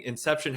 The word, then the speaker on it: INXEPTION: way for anyone listening Inception has an X in it it's pronounced Inception just so you don't